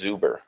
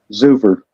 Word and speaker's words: Zuver: Oh, Jonas Zuber. Okay. Zuver. Oh, can you spell that?